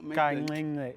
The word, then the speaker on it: kancinci: front of the mouth, isn't it? It's the front. Yeah. You kind of suck the top of your palate with Kancinci. the front of your tongue.